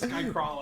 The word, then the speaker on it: Skycralo: It is Skycrawlo. Okay. I actually wasn't going to bring it up. Every time I say it, he's like, it's Skycrawlo, and I'm like, can you kill yourself?